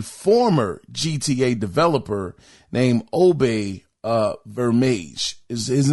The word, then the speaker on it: Obbe: out from a former GTA de developer named obey uh verage his name is spelled obbe his last name is spelled v